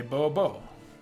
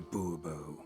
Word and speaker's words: Bourbeau: Hey, hey, Bobo. Fine. Let's get to the point. Monsieur Bobo. Fine. Monsieur de Bourbeau. De Bobo. The emphasis falls on the last syllable.